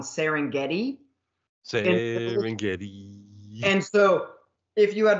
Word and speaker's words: Serengeti: hates the fact that they slip in the extra syllable on serengeti and so if you